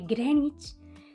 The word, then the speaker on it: Greenwich: se dice am que el meridiano de grenwich se dice greg knicks el leicester es lester